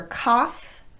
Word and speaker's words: cough: an ow pronunciation and for cough and trough these letters are pronounced off finally we have the